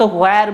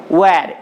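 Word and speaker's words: where: ওয়্যার আর you going to stay, বলছে তুমি কোথায় থাকবে, ওয়্যার আর ইউ, আমরা সাধারণত হোয়ার বলে থাকি এটার, কিন্তু এটার প্রকৃত উচ্চারণ হচ্ছে ওয়্যার, এইচটা সাইলেন্ট থাকবে। বলছে ওয়্যার আর ইউ গোয়িং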